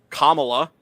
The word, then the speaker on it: Kamala: and at the end Kamala and uh or I'm sorry I need to pronounce it correctly Kamala uh and Biden weren't